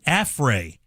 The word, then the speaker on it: affray: Is it pronounced like affray? Yeah, A F F R A Y. Affray.